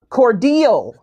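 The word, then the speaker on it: Cordele: Miss Cynthia Johnson is a lifelong resident of Cordell. Did I pronounce that correctly? Cordell.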